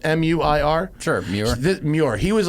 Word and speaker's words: Muir: think was his name, Muir, like Muir Woods. It's in. Oh, yeah. Is it Muir? Is that pronounced M-U-I-R?